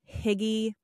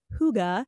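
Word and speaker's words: hygge: book right now called the little book of Huga it's spelled h y g g it looks like Hai higgy um it's spelled or pronounced Huga and it's a Danish concept of like intentional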